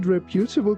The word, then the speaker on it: reputable: The service from the less than reputable company made her angry. Please be careful not to pronounce this word like reputable. It's reputable.